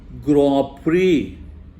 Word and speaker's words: Grand Prix: But this should be pronounced as Grand Prix.